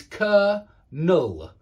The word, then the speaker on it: colonel: The pronunciation is Colonel.